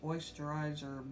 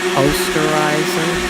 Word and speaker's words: Osterizer: We're going to do it, it's on a frappe setting, which is the highest setting of this ancient oysterizer blender that I have. I think that's actually pronounced Osterizer.